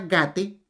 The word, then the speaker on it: gate: Cada una de ellas, de estas, debe de alargarse, la consonante o la vocal se alargará. Si hay alguna persona que considera que este mantra es muy largo, le aconsejamos entonces que pronuncie la primera parte, o sea, la palabra gate. Con la palabra gate, pronunciada gate, y así sucesivamente y prolongándolo lo más que pueda, entonces le traerá a